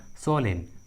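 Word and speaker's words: solemn: देखिए इस English word में एम का उच्चारण नहीं किया गया है। उसी तरह सोलेन, सोलेन, ऑटन, ऑटन।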